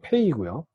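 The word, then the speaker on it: פ: 요 페이도 점이 있을 때하고 없을 때가 달라집니다. 점이 있을 때는 그냥 P, 점이 없을 때는 라인을 그어줘서 부드러운 소리다. P의 부드러운 소리가 F 발음입니다. F.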